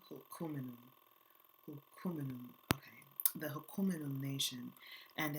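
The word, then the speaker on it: Hul'q'umi'num': pronounce this correctly, Hukuminum, there's like a thing with your throat that you have to do with that Q, Hukuminum, okay, the Hukuminum Nation, and an aquaculture specialist, says the communities themselves had never forgotten.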